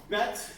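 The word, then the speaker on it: ב: And we learned bet. Bet has the um the dots. It's called a desh. It's like he has a belly button going to say. So bet as in boy.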